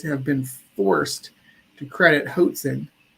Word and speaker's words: Hoatzin: While these birds are bad at flying, evolutionists have been forced to credit Hoatzin, rhymes with Watson's, with some impressive rafting.